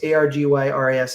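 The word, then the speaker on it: Argyris: what he said so chris arges argus or arjus argy ras is is how you pronounce his name i call it argis chris said after four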